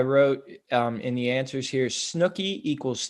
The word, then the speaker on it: Snooki: that I participated in, but I believe it's Snooki. Snooki is correct.